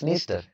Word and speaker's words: Dniester: It is pronounced as Dniester.